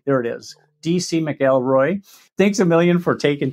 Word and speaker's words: McElroy: or mcelroy depending on how you like to pronounce it you like it mcallroy there it is d.c mcelroy thanks a million for taking time and coming